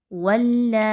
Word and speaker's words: ولا: واو لام زبر ول۔ آگے دیکھیے تو لام کے اوپر کیا ہے؟ بڑی مد اور ساتھ میں کھڑا زبر، تو کیسے اس کے ہجے کیے جائیں گے؟ لام مد کھڑی زبر لا، ولا۔ کلیئر ہو گیا؟